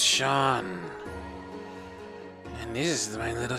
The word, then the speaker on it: Seam: And the name Seam, pronounced Sean.